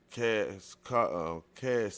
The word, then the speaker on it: caste: Let me see how you say the word. Cast. Yeah, it's cast.